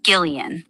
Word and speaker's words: Gillian: It's pronounced Gileian with a hard G, like the beginning of girl.